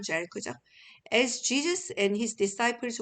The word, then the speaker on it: Jericho: 자, 여리고가 이제 영어 발음으로는 Jericho죠.